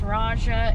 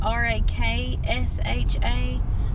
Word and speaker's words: Raksha: sounds like it's pronounced raja in the movie but if you look at this spelling it's r-a-k-s-h-a so i don't know if you actually say the k or not so we don't know